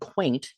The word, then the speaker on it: queynte: So as clerks are very subtle and sly, and that's the word quaint, Quaint, in its contemporary meaning, and it's spelled Queynte, but again, spelling, Yeah, which manuscript you're arbitrary.